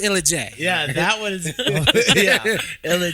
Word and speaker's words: Illa J: Yeah, It's pronounced Illa J.